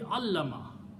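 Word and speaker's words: علّم: Shadda means lam is being pronounced now 2 times. Okay? So if this word is alama, this will be allama.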